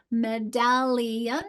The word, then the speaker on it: medallion: Medallion, where's my stress? Medallion, it's in the second syllable, isn't it?